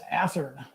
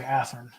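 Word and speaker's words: Athearn: And Winona, it is Athern. That's how they pronounce it. I know growing up as a kid on the East Coast, I wasn't quite sure how it's pronounced either, but our development guys in California, they always say Athern.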